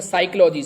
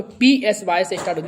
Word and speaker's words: psychology: जो लिखने हैं तो इनका पहले शब्द साइलेंट राहत है जैसे साइकोलॉजी साइक्लोजी की इसमें देखना तो साइकोलॉजी लेकिन पी का तो कोई नाम भी नहीं है और लगता है साइकोलॉजी तो ये इनकी विशेषता